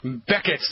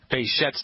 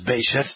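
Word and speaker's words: Behçet: Oh, the great doctor who discovered Beckett's disease. Probably pronounced that incorrectly. Bechet's disease, maybe. It's a French word. French name.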